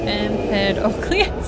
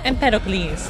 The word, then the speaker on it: Empedocles: Empedocles. Oh, thank you. I had no idea how to pronounce it. Empedocles.